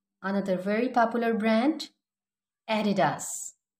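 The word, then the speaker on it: Adidas: Another very popular brand एडिडास, एडिडास, एडिडास.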